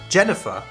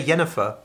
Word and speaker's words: Jennifer: but it would be Jennifer really yeah because Jennifer sounds stupid it sounds like the girl from the witch Jennifer but we don't say yennefer really yeah we say Jennifer really would the nickname